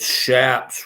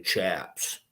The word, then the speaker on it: chaps: or a green horn it shaps with an s-h-a-p-s that's how you say it it's spelled with a CH but people instantly know you're not from like cowboy country if you say chaps so even though it's chaps for almost everything else in the world right